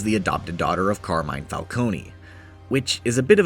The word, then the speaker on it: Falcone: Catwoman is related to the Falcones. I know it's Falcone, but the games pronounce it Falcone, so that's what I'm sticking with.